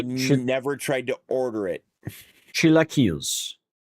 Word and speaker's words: chilaquiles: Google says it's chilaquiles. Okay. Is it pronouncing it like Castilian Spanish or like Mexican Spanish? Because that does make a difference. Just says American pronunciation. Oh, that's probably the wrong Spanish. Mexican Spanish. Chilaquiles.